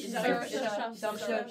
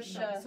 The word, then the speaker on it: Saoirse: Ça se prononce Shaori. Saoirse. J'ai jamais réussi à prononcer son prénom. Saoirse.